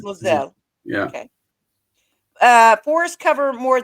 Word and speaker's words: Moselle: It is pronounced the Moselle, like a Z. The Z. Moselle.